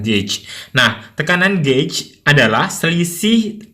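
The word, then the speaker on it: gauge: membahas mengenai tekanan Gage ini dibacanya Gage Ya tapi kalau orang Indonesia kadang-kadang bacanya gouw tekanan gouw tapi yang benar ada tekanan gadge nah tekanan Gage adalah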